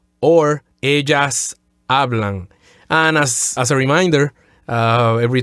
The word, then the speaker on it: habla: And third person, plural, ellos hablan or ellas hablan. And as a reminder, every time we see an H, we omit it. The letter H is silent. So don't say hablo or habla.